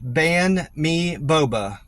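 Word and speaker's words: Banh Mi Boba: I'm probably saying this wrong, but it looks like it's pronounced Ban Mi Boba on Focus Loop. It's spelled B-A-N-H space me M-I space boba B-O-B-A Ban Mi Boba for Carl.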